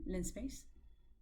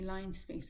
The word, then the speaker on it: linspace: you that you mean linspace it will correct you on how to spell it a common mistake is to say line space it's not actually line space it's lin space linearly spaced vector okay this is all